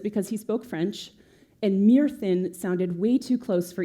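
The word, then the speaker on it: Myrddin: know as merlin um it's spelled m-y-r-d-d-i-n which is uh pronounced mere thin in old welsh which is the language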